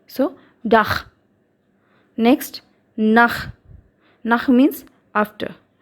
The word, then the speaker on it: Dach: Okay, so when ch follows vowels like u, a, then it will be pronounced as kh of English. It means kh. Okay. Zum Beispiel, for example, der Dach.